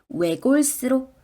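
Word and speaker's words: 외골수로: 하지만 'siot' 은 ' 쌍 -siot'( 긴장 된 s) 소리 로 발음 된다는 것 을 기억 해야 합니다 . ' 외골 세우 로 ', ' 외골 세우 로 ' 라고 발음 해 주세요 .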